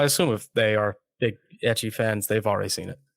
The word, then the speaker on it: ecchi: Well, I assume if they are big ecchi fans, they've already seen it. Oh, yeah, you're right. Is that how you say it, ecchi? That's how I say it. Oh, I've always said ichi, but like, I don't know.